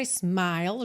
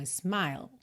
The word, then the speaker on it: smile: aqui né repare que a letrinha e está pintada de Cinza então isso significa o quê que você não vai pronunciar tá nem um pouquinho então smile smile a língua lá